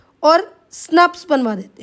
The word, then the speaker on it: snRNPs: SNRNPs मतलब इनकी pronunciation होती है स्नप्स।